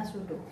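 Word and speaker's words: pseudo: susu hot yang ini tulisannya bersyukur tapi kalian bacanya sudut yaitu yaitu penyajian algoritma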